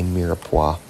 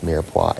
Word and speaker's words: mirepoix: There's a lot of silent letters and all these fancy cooking terms. There's an X in both mirepoix and roux, and I don't hear any X anywhere in it.